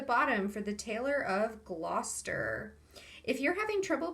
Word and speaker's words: Gloucester: english so you'll notice that it is just gla so go to the o and then pretend you can't see the rest of the word and